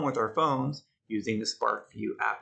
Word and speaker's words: SparkVue: your app store on your phone and download SparkVue. It's a free app. Notice how you spell it, Spark, V-U-E, like that.